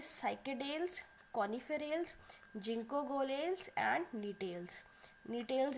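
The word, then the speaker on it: Gnetales: नीटेल्स इसलिए क्योंकि यहाँ पे भी जी क्या है, साइलेंट है, ठीक है, या इसको एफेड्रा भी बोल सकते हैं।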